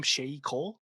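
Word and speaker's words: Sheyi Cole: Shay Cole.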